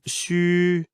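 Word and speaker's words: 嘘: of Chinese phonetic alphabet the letter X is pronounced as in the English word she u is pronounced as wool in the word wood but ending with a prolonged E as in it the pronunciation is assisted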